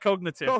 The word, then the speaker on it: Cognaitive: It's just pronounced COGNAITIVE, but it's got AI in the middle.